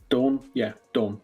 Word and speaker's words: Daan: Daan, that's the way you pronounce it.